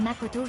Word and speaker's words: Makoto: The room that Makoto... Makoto? No, that's wrong. That's not how you pronounce my name. It's Makoto.